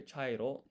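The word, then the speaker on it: ちゃいろ: Because if you look here, chairo, this here is not chi ya, it's cha.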